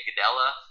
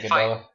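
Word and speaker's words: Gadelha: I didn't think she beat Claudia Gadella. Gadea, whatever, I don't know how to say it correctly. You said it the first time, right, Gadella?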